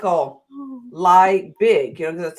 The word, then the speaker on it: Liebig: Liebig, it's German.